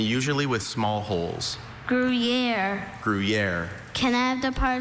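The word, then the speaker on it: Gruyère: There are a couple. I have griier. Also, griier. Griier. Grriier.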